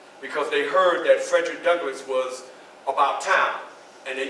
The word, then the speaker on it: Douglass: s on it so when you say my name you say my name politely Douglas not Douglas Douglas you make sure you pronounce that other s so anyway like I